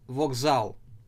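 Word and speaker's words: вокзал: You see, it is written as English B, but we do pronounce this letter different. We pronounce this letter as we in English. So, as in ways, visit, and an example for you, vokzal.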